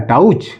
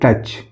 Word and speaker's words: touch: TOUCH, यह क्या है, टाउच नहीं, ये लिखा है टच।